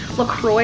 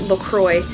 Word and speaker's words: LaCroix: wah and I note technically pronounced Lacroix I actually looked it up it's Lacroix but there was called it look LA and I just I